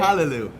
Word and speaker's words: callaloo: Callaloo.